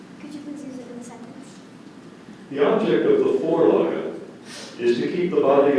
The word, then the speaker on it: Vorlage: The object of the Vorlage is to keep the body of the skier perpendicular to the slope.